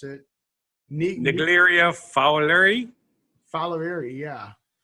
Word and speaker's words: Naegleria fowleri: But the infectious brain-eating amoeba called, I can't pronounce it. Naegleria fowleri.